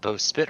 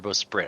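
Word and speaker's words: bowsprit: yeah the maror Dragon is it both spit or both sprit I thought there was an r in there b sprit sprit sprit with an R yeah sprit you could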